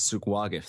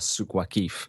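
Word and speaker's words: Souq Waqif: more basic, while the actual main souk is souk waqif, they call it, or souk waqif, depending on your pronunciation.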